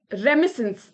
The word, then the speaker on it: remittance: Okay, so रेमिसेंस. Okay, रेमिसेंस इज, यहां पर T silent होता है. In this case the टी इज generally silent in इस केस में, which